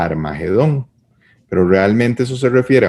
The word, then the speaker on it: Armagedón: que sucede es que eso en hebreo se escribe como hard h aire medido entonces la palabra es arme guido y eso se fue digamos cambiando por como suena a armagedón pero realmente eso se